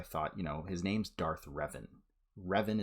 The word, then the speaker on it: Revan: Revan is how we pronounce his name.